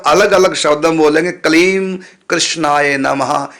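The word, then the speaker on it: क्लीं कृष्णाय: तो यदि आप आराम से बोलेंगे, कलीम पहले बोलेंगे, उसके बाद थोड़ा सा कोमा दे करके फिर कृष्ण बोलेंगे, कृष्णाय, तो होगा कलीम कृष्णाय नमः।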